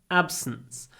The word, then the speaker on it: absence: his absence absence absence when you pronounce the S at the end try to pronounce it almost without a vowel s s absence what can we have